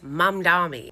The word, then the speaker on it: Mamdani: I know it is Mam Dami with an M.